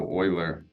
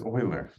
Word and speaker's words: Euler: and then which Biz Dev wants uh so Euler they that's how you pronounce it it's Euler wow e-u-l-e-r don't they lock people out of